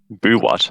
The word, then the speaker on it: Buwat: Boo what? I think Yeah. it's Buwat. Oh, Yeah, that's Boo Boo. What. Oh, yeah. It's pronounced Boo. What Yeah.